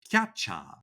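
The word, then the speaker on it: キャッチャー: A lot of the Japanese terms for players are loan words from English. So catcher is pronounced catcha or pitcher is picha or strike is sutiku.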